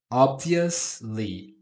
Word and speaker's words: obviously: Ob vi le não é li e nem vious. Ok. Obviously.